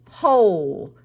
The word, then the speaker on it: whole: This word is whole.